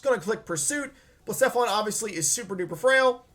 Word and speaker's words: Blacephalon: of me for this, Blacephalon. It's Blacephalon. Take the second one. I said it wrong the first time. It's Blacephalon. He was able to switch on a hidden power ground.